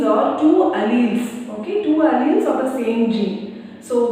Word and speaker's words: alleles: Next, alleles. See the spelling A-L-L-E-L-E-S. It is pronounced as alleles.